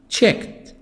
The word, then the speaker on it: checked: a single house check checked checked the D T in the past D I really T I pronounce it T because there is a cat sound check checked checked examine